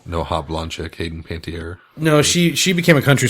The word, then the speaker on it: Panettiere: I love how her last name is pronounced Panettiere, and the way that you pronounce it sounded like Panty Air.